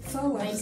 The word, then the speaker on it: flour: Ça voilà, ça s'écrit comme ça, mais ça se prononce flour.